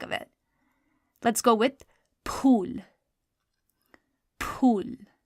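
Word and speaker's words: پھول: So that aspirated sound is produced by do chashmi hai. So it's going to be pe, do chashmi hai, vow, and lam. Pool.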